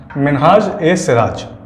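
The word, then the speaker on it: Minhaj-i-Siraj: पहले इन्वेडर का जिसका हम नाम देखेंगे वो है मिन्हाज ए सिराज। इसकी प्रोनाउंसिएशन आप ध्यान रखिएगा, मिन्हाज ए, ये आई दे रखा है, आई को हम जब प्रोनाउंशिएट करेंगे तो ए बोलेंगे, मिन्हाज ए सिराज।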